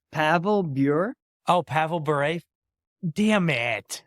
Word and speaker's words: Pavel Bure: It's Pavel Bure.